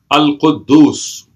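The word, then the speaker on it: القدوس: So it's pronounced as Quddus, Al-Quddus.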